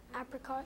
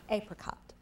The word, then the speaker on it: apricot: French and Latin when it passed into English apricot can have are there any alternate pronunciations apricot apricot a p r i c o t